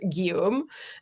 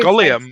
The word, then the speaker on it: Guillaume: You have no idea how many times my brother has to go through this because his name is Guillaume and like it's spelled Guillaume. It's very Gulliam, are you here?